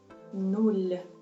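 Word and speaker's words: нуль: At the end of this word we have the soft sign. Soft sign in Ukrainian has no sound, but instead of it has a direct effect on the previous consonant before. It's soft consonant. In our case is L. Soft L.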